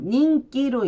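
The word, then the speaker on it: 人気: 인기와 개인이 있고 일본어 발음으로는 인기일 때는 닝기로 읽고요. 그리고 개인일 때는 코징으로 읽습니다.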